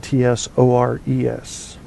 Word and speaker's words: tsuris: Tsuris, Tsuris, serious troubles, not minor annoyances. Out in Phoenix right now, they're having Tsuris. Tsuris, pronounced Tsores.